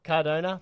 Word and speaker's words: Cardano: jonno Bitcoin vers how do you say it Cardona Cardona Bitcoin vers Cardona here we go so tell